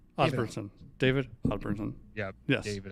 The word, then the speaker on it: Osburnsen: We also got Greg Osburnsen. Did I pronounce that right? Osburnsen.